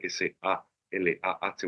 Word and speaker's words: Salah: Hay un libro de Salah Yamal, Salah se escribe S-A-L-A-H, bueno, como Salah, el futbolista de Liverpool, Salah Yamal, que se llama Aroma Árabe.